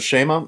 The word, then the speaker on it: Shema: It's called the Shema. I'm going to pronounce it as I learned it from my